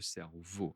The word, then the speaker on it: cerveau: Alors, la tête, le cerveau, à l'intérieur, le cerveau. Attention, la prononciation, E-A-U, c'est O, notre cerveau.